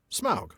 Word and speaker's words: Smaug: him I've heard the I have heard Tom Shippy pronounce smog. Right. Yeah. Yeah. And so it must be right. Yeah. And I've concluded that it must be right too.